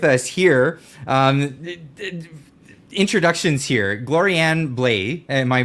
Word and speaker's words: Gloriane Blais: but also with us here um introductions here Glorianne bla am I pronouncing that correctly yes it's perfect yeah so